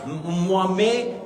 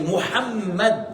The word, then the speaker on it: Mohammed: me m Messager d'Allah, il faut prononcer le nom de prophète Mohammed et c'est pas mo c'est pas mes c'est Mohammed.